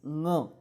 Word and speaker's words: ङ: ये लास्ट का जो है इसको ड नहीं बोलेगा कोई, उसको आपको ग बोलना है, लेकिन नाक से, ग जैसा उच्चार है लेकिन नाक से, ङ।